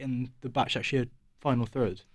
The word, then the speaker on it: Başakşehir: Başakşehir.